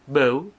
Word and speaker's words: Bell: Di sini namanya Bau, tapi tulisannya Bell ya. Bell. Bacanya kan Bau gitu.